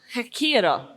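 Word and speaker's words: Ghekiere: You're mixing up the R and the K. You're saying them the wrong way around. Okay. So you've got the right idea, but it's K and then the R. Hekira.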